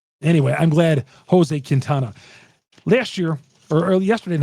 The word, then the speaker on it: Quintana: of factors in those two things Chuck it's pronounced kintana well said Chuck Freeman here on lock on